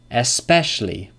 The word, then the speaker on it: especially: Two syllables. And number seven. Number seven. Especially.